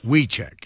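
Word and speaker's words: Wiecek: you can tell me the exact pronunciation v check me check wecheck it's w-i-e-c-e-k here's where here's where your debate word is we check at our debate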